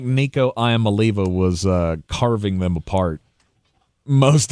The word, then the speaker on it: Iamaleava: By the way, I was instructed it's Iamaleava.